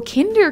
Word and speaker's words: Kinder: to do that p.s my name is pronounced like the chocolate egg oh kinder gotcha okay okay